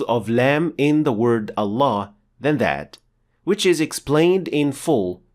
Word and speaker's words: Allah: full mouth lamb or as we call it in English the dark l as in the word luck and pronouncing Lem like